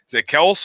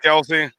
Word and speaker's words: Kelce: I just never know how to say his name dick else or Kelsey Kelsey I really believe that Kelsey oh that's good I'm